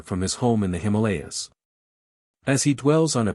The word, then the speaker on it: Himalaya: The word Himalaya has been accented on the second syllable wherever it occurs.